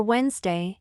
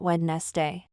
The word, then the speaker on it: Wednesday: me is Wednesday for Wednesday you say Wednesday not wedes day the D sound in the middle is silent why are some letters